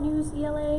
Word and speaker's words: Newsela: us probably knows about news ela newsela to pronounce both ways that one's really neat